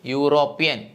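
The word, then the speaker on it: European: സ്വരാക്ഷരമാണ് ആ അല്ലാത്തതുകൊണ്ട് നമുക്ക് എന്ത് ചേർത്ത് പറയാം എ യൂറോപ്യൻ അടുത്തത് നോക്കിയേ യൂണിവേഴ്സിറ്റി യു എന്ന അക്ഷരം കണ്ടിട്ട് എഴുതരുത്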